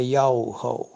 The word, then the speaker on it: Yahweh: A pronúncia do nome do pai é Yahweh, correto?